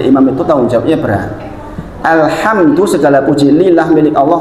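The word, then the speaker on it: الحمد: Jikalau bacanya benar alhamdu segala puji. Sekarang jenengan baca salah. Alhamdu pakai H besar. Jadi apa artinya? Segala kehancuran lillah milik Allah.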